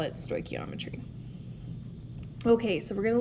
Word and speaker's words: stoichiometry: own here before i tell you so it's pronounced stoichiometry for short sometimes you'll just see stoic and